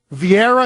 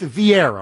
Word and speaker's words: Vieira: mic beside him was Meredith how do you pronounce her last name Brittany Vieira is that's why okay Meredith Vieira okay just she just goes by Meredith Meredith